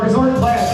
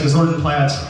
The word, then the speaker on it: Gozortenplat: As I mentioned, we are a Milwaukee-based Frank Zappa tribute band known simply as Gozortenplat. I don't need to spell it out. It's just, it's spelled phonetically, Gozortenplat.